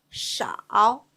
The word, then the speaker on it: 少: 少 sh ao with third tongue, 袄 sh ao 少 sh ao 少 Please repeat.